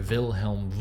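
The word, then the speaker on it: Wilhelm: part of the world both Holland and Germany they tend to pronounce their visas w's and their double use as V so so vilhelm volt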